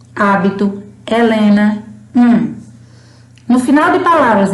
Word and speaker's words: hábito: Por exemplo, no início de palavras, por exemplo, ela não tem som. Hoje, hábito, Helena, No final de palavras, ela também não tem som.